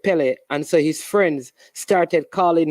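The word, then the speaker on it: Pelé: gamma goalkeeper whose name was Billy um he mispronounced the name instead of saying Billy he said Pele answer his friends started calling him um Pele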